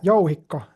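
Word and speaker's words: jouhikko: Yohiko. Yoiko.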